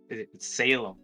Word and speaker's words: Salem: it's five next up we got is it pronounced saleem or selem salem oh salem oh salem isn't that like the